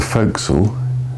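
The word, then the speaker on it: fo'c'sle: this area forly used for well called the fil it's shortened from for Castle but Fel is the way it's always pronounced um in very simple terms this is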